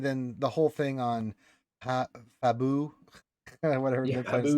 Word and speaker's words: Pabu: I of kept she saying Fabu. It's Pabu, right?